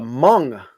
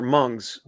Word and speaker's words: Hmong: There's a Hmong population up there. A what? HMONG Hmongs. They're called Hmongs or Mungs. I think it's called Hmong. You pronounce the H.